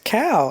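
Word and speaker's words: Kao: I was like Wow hey this is cow everybody like the job that I had before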